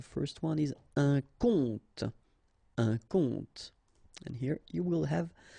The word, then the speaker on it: compte: Un compte. And here you will have the translation. Un compte. So exactly the same pronunciation, but then of course the meaning is different.